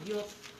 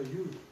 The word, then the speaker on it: Yod: Bueno, la mía dice Yod. Y-O-D. Entonces, Pero se pronuncia Yud.